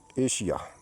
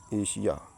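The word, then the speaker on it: Asia: उच्चारण सा होता है एग्जांपल के तौर पर दोस्तों देखिए एशिया य लिखा ए एस आई ए एशिया यहां आई आया है इसलिए एस का उच्चारण सिटी वाला सा हुआ एशिया यह देख लीजिए आप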